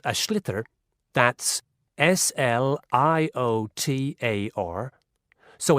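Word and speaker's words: sliotar: this ball called a schlitter that's s-l-i-o-t-a-r so it's not spelled the way it's pronounced you hideous into the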